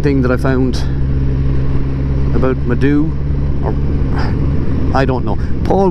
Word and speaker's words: Moydow: If you're basing it on the Irish spelling, pronunciation is Maidu.